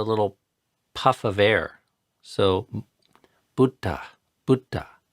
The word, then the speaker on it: Buddha: a hard time pronouncing Buddha properly. I say Buddha, which is how an American would say it. But if you want to say it the poly way, it's Buddha.